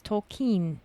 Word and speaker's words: Tolkien: yeah um and also i've been saying his name wrong it's tolkien tolkien yeah um so um